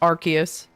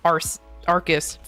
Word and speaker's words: Arcus: Yeah, it's just Arcus. I'm adding I'm adding an E that doesn't exist, but it's fine.